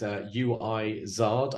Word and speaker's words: Uizard: By the way, this is UIZard. I don't know how you're supposed to pronounce that. It's like wizard, but UIZARD.